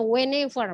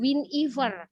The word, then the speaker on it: whenever: Inggris ya Wen book itu dibacanya whenever bukan winifer salah whenever gitu ya whenever I